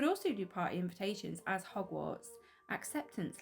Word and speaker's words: Hogwarts: You could also do party invitations as Hogwarts acceptance letters. I said it right without the M.